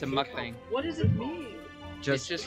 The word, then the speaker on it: mukbang: be on yeah like spelled like uh Muk like the Pokemon not like in the UK and then bong like Bang not like blonde yeah it's a mukbang what does it mean